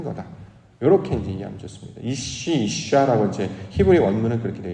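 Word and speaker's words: אשה: 이샤라고 발음을 하는데 그래서 하나님의 사람으로 변화된 것.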